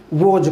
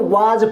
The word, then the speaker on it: was: अब बच्चे अक्सर क्या करते हैं, इसको वाज पढ़ते हैं, लेकिन ये वाज नहीं है, ये वोज, यानी कि इसका जो उच्चारण है वो ये है, ओ और आ के बीच की आवाज़ है वोज।